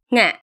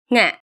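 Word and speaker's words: ငှက်: Nga. Nga. Ever heard any words like this? It has an aspirated nasal sound at the beginning.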